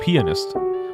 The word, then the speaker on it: pianist: conflicted whenever I say that because the proper pronunciation is pianist but like if you want people to hear the right word you have to say pianist which is like it's that's not how you